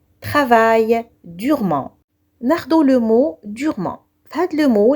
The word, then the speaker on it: durement: ناخدو le mot durement. هاد le mot, les lettres E, N et T se prononcent en LH parce que durement est un adverbe.